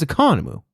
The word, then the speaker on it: Economou: I see Economou and I always have to stop and be like, it sounds like Economou. It is Economou.